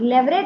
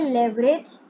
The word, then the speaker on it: leverage: Notes निकालते हैं, और लेवरेज चैप्टर को भी आसान बनाते हैं। तो लेवरेज में अब अपन देखेंगे सबसे पहले इसकी प्रोनाउंसिएशन। तो कुछ लोग आपने देखा होगा, वो इसे बोलते हैं लेवरेज, जैसे अभी मैं बहुत देर से बोल रही हूँ।